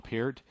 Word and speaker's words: Peart: He actually sat in front of Neil Peart, or Peart, however you want to pronounce it, and conducted his drums.